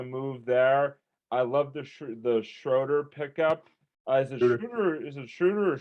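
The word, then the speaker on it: Schröder: And he said, Schroeder. No, it's Schroeder, yes.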